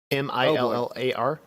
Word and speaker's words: Millar: Millar. I don't know if you're asking me about pronunciation or 2 different people. 2 different people. It's Millar. Okay.